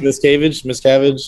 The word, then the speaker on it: Miscavige: Pronounced Miscavige.